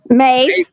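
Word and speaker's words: Mauve: How do you pronounce it? Mauave. M- auve v. Mave.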